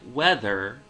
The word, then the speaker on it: whether: Instead, when we say a word like whether, we're placing a much heavier emphasis on the first half of the word.